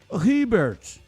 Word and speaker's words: Herbert: Ele está se referindo ao Herbert, que quer ser chamado de Herbert. Ô Edivalmir, eu disse que é como ele gosta de ser chamado, porque a pronúncia correta seria Ribert.